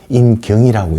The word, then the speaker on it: 인경: 이때 조선은 인경이라고 읽고 한자는 인정, 곤배정자 써서 인경이라고 이제 통금을 날리면 북을 때렸거든요.